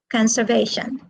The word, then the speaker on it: conservation: a verb okay next what about in conservation conservation where is the stress conservation it is on the third syllable okay now let us